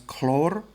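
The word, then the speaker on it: хлор: So with these, they just drop the "ine". So fluorine, well, actually fluorine's a bit different. Fluorine's Ftor. Chlorine becomes chlor. Bromine becomes brom. Iodine becomes yod.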